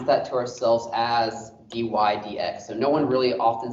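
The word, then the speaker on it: dy/dx: read that one out loud is we literally pronounce that to ourselves as d y d x so no one really often says d y over d x but when you say d y d x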